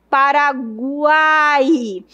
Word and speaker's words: Paraguai: Se eu for pronunciar, fica assim, ó. Para cuáai. Veja que o U é um pouco fraco, o I é um pouco fraco e o A é forte. Paraguai.